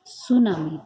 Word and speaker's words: tsunami: द सुनामी, इसको ये सुनामी शब्द लिखा हुआ है TSUNAMI, सुनामी। टी को साइलेंट कर देते हैं, ठीक है।